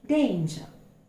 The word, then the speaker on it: danger: The R is not heard. It's danger.